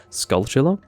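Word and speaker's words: Skulltula: And so, um, yeah, Tula rather than Tula, cuz I would say tarantula, right? But skull like the tua is definitely taken from tarantula. So, you wouldn't really change the pronunciation of tua if that's where it's coming from. So, skullchilla, stranchilla, etc. Like that's that's the pronunciation that you want to use.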